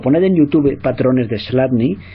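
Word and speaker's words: Chladni: deletreo para los que estéis escuchando MP3 slat se escribe c HL a dni c HL adni slat era un físico del principios del 19 que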